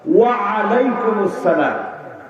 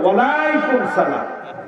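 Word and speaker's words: وعليكم السلام: মাশাআল্লাহ, আমি লক্ষ্য করলাম আইনের যথাযথ উচ্চারণ ওয়া আলাইকুমুস সালাম, আপনারা তাই বলেছেন। সুবহানাল্লাহ। অনেক জায়গায় সালাম দিলে বলে ওয়ালাইকুম সালাম, হইলো না, বলেন হইলো না।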